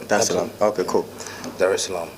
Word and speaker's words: Dar es Salaam: come straight to Tanzania, Dar es Salaam. Did I pronounce that right? Yeah. Dar es Salaam.